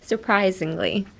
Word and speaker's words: surprisingly: ってきてください surprisingly はい zingly あと the S in surprise is pronounced like a Z Z の surprisingly Z